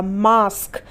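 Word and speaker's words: mask: जैसे मां एस के तो यहां पर भी ए है और ए के बाद क्या रहा है एस के ए रहा है इसलिए यहां पर ए का उच्चारण क्या हो जाएगा ए हो जाएगा मास्क मां एस के मास्क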